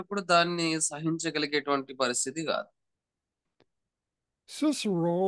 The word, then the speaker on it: Cicero: Cicero, or sometimes pronounced Cicero, was a person of ancient Greek culture.